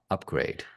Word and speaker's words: UPGRD: handle is very simple it's william. upgrade which is spelled as william. upgrd and then if people